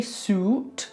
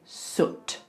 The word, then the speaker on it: soot: We don't say suit, we say soot. Okay, that sound is really tricky for a lot of people. The lips have to be forward. The tongue is just resting behind the bottom teeth. And it's lifting up a little bit.